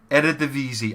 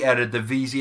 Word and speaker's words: Eredivisie: Now, I think it is pronounced Eredivisie. I think that is how you pronounce the league.